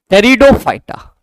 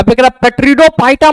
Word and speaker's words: टेरिडोफाइटा: है वह क्या है टेरिडोफाइटा टेरिडोफाइटा अ पेडो फाइटा मत पढ़ देना चला यह प यहां पर साइलेंट होगा इसको क्या पढ़ेंगे हम लोग टेरिडोफाइटा टेरिडोफाइटा तो आप सभी यह ध्यान में रखेंगे कि जो थैलोफाइटा ब्रायोफाइटा